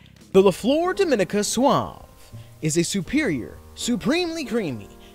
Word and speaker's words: Suave: one here is le4 dominicanas SWA also it's pronounced Suave it's not Suave the leflore Dominica Suave is a superior supremely creamy elegant combination of